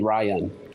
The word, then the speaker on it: Ryon: But yeah, people always ask me, is it spelled with the O? I'm like, yeah, it's actually spelled with the no. But yeah, it's pronounced Ryan.